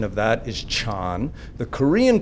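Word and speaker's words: 禅: is Diana the Chinese pronunciation of that is Chan the Korean pronunciation of that is sun and the Japanese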